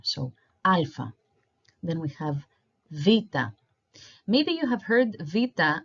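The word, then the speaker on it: βήτα: E I think but saying V is closer to the original pronunciation so Vita Vita so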